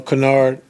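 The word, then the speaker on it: Kennard: I know, um, you know, um, we talked about just with, you know, Canard, you know, not, you know, not letting him get get off three-wise and that's how you say his name.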